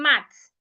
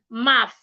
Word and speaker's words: math: Instead of saying max, you want to say math.